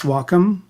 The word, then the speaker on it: Wacom: But the correct pronunciation for those of you that give a shit is Wacom, and but it was a